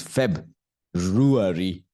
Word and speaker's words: February: correct February Feb February it's not February many of us we think it is February February February February like ruary okay so guys you